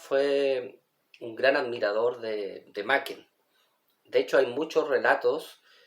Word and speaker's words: Machen: magistral del autor galés Arthur macken se pronuncia macken imagen un interesante escritor